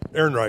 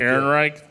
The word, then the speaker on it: Ehrenreich: It's Ehrenreich. Ehrenreich. Ehrenreich.